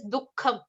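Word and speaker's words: दुःखम्: or even if you look at the word in as it is written in English in the synonyms section, there is it is written as duh with a dot below it, and then kham, kham. So it is dukkham.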